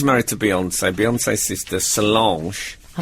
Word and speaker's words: Solange: Yeah, Solange.